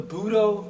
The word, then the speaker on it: Budo: The Buudo cross integrates or crosses intelligence and power. Buu as in Buddha, do as in the Dao.